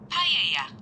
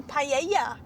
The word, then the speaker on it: paella: Turn right for paella. Oh. Paella? But we call it paella, but they say paella. Paella. No, paella.